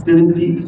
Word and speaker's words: synesthete: We had a synesthete, or how you say it, synesthete?